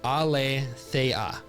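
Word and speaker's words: ἀλήθεια: The word for truth in the Greek is pronounced alleah, meaning that which is unconcealed.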